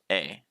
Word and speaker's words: へ: Note that this particle is pronounced a.